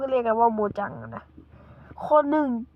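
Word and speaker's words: Mojang: กับ บริษัท โมจัง หรือ โม แจง นั่น แหละ ผม เขา เรียก ว่า โม แจง นะ ทุก คน แต่ มัน อ่าน ว่า โมจัง และ ผู้ เล่น Minecraft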